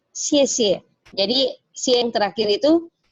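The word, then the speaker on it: 谢谢: Nah, yang tidak ada nadanya seperti ini, itu artinya dia dibacanya nada kelima, bacanya ringan saja. Misalnya kayak gini ya, xie xie. Jadi xie yang terakhir itu ringan, pendek saja, singkat. Ya, jadi xie xie, bukan xie xie, enggak, tapi xie xie.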